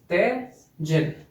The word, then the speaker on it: Tydzień: ते जिन, तिजिन, थोड़ा सा चेंज है प्रोनाउंसिएशन में, तिजिन माने यू, ओके।